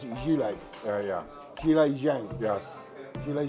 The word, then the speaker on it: Zhilei: So you pronounce it Zhilei.